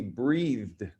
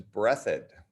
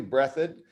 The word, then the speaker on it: Breathed: his name is berkeley breathed because that's looks like the word breathed but that's not how you pronounce his name it's brethren his name his last name is brethod this is a little